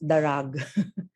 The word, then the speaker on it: darag: Sorry, it's not drag. It's darag. My computer did not refuses to spell it the Ilonggo way.